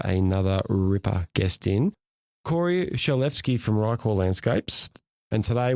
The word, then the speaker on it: Shalevski: It was spot on, yeah, Shalevski. I feel like a lot of people get it wrong, but it's actually exactly how it's spelt, Shalevski. So if you break it down, it's not too bad.